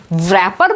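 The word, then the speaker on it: wrap: यहाँ देखो इसको क्या बोलोगे आप, रैपर बोलोगे, रैपर, टॉफी का रैपर नहीं, इसको बोला जाता है रैपर, रैपर।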